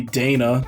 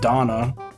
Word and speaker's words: Dana: it should be it should be dana not donna japanese are just